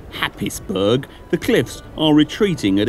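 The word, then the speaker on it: Happisburgh: Haysborough, or as it's spelt, Happisburg, the cliffs are retreating at a yard a year.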